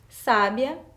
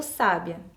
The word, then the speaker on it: sábia: sabia onde estava o sábia então quando eu pronuncio essas palavras com acento correto Eu percebo que muda o sentido e qual que tá